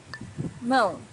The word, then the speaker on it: mão: Mão, hand. Mão's a little bit difficult to pronounce for beginners because of this nasal sound, but try to practice it and you'll get better and better each time.